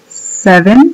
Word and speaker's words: seven: Ahí tenemos otra vez la B chica. 7, 7, 8, pronúncienlo como está ahí.